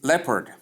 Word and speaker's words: leopard: Next is leopard. That is number 7. Leopard, not leopard. Not leopard. It is spelled as leopard, but pronounced as leopard.